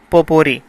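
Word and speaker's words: potpourri: पोपोरी, जिसमें T silent है, पोपोरी का मतलब है a group of similar persons, एक जैसे लोगों का ग्रोह।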